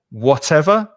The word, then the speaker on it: whatever: Notice that with all of these words, I believe the stress is on the first syllable. Whenever, whichever, whatever. the first syllable is stressed harder than the second.